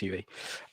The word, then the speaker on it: YUI: star next by yui is it pronounced you ue it is pronounced uv um fantastic singer songwriter